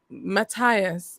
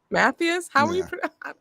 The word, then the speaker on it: Mathias: what's going on and everyone pronounces it like they don't um I was trying to Matthias I think is how they pronounced it yeah I don't know Matthias but yeah Americans to say Matthews Matthews yeah it's right I'm French I should know how to pronounce it would be Mathias something like that yeah yeah so